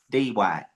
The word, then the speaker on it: Dwight: no but you know it's like one syllable though really it's Dwight Dwight Dwight all right yeah not